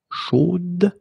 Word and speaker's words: chaude: So here you pronounce the final d, whereas in the masculine form, you don't pronounce it.